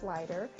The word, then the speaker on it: Sluyter: And I just want to let you know his last name is spelled Sluyter, but it's pronounced Sluyter.